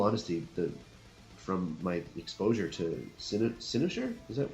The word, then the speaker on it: Cynosure: In all honesty, from my exposure to Cynosure, is that how I pronounce it? Cynosure. Cynosure.